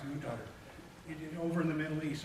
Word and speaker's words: Qatar: In Qatar, is that how I say it? It's spelled Qatar, I think, but pronounced Qatar.